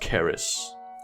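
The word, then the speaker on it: Kris: but Indonesia has their Chris swordsman now actually it's pronounced Caris of course they would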